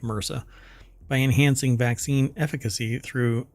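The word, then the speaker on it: MRSA: fight against Mera uh MSA um but it's typically pronounced Mera by enhancing vaccine efficacy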